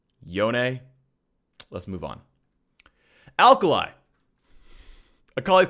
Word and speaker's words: Yone: It is pronounced Yone. Say it with me. Yone.